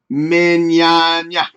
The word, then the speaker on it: Mignogna: Sam says, pronounce it like you would lasagna. Lasagna. Mignogna.